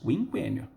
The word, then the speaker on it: quinquênio: O trema ajudava. Havia trema nos dois Us, quinquênio.